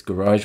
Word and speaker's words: garage: pronounced in two ways garage with the emphasis on the first syllable and garage with the emphasis on the second syllable the difference is primary